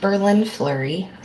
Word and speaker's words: BerLynn Fleury: My name is pronounced BerLynn Fleury, like the city and like the hockey player.